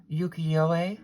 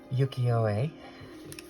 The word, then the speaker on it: Ukiyoe: I'm using the Ukiyoe Tarot, and that's the correct pronunciation.